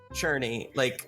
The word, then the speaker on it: Tchurni: Churny, like you're churning butter, Aw. but you're just without the G.